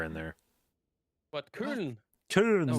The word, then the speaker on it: Köln: No, it's Köln. Köln. Köln. No, it's an Ö. Yeah, Köln. Somehow you guys managed to make it like an R sound, even though there's no R in there.